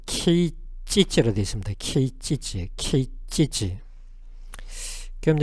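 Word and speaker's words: 啓蟄: 일본어 발음은 케이찌찌로 되어 있습니다.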